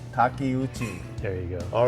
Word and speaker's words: Takeuchi: Oh, I butchered Terry. Could you share with us how to say that correctly? I would say Takeuchi. Takeuchi.